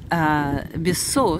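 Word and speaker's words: Besòs: питон поцелуи так вот бесо с ударением на о Посмотрите Бис означает два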